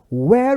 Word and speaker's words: where: Where were you? Where were you? Onde você estava? Prestem atenção nessas duas palavrinhas aí. No pronome interrogativo eu digo where. Essa pronúncia é where. Mas o outro é were.